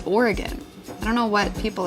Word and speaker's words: Oregon: Everybody on the East Coast says it's Oregon. It's not, it's Oregon.